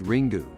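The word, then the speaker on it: Ringu: to you the original Japanese ring pronounced ring do hands down one of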